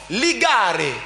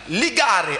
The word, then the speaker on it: ligare: nous avons le mot ligare. Ligare en latin, comme vous l'entendez. Lex avec L E X pour ceux qui sont loin. Ligare avec L L I I G G A A R E A R E Ligare signifie justement lien.